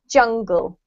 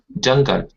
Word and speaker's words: jungle: reminder to everybody samuel this word here has a j sound in english so it's jungle jungle yeah that's better and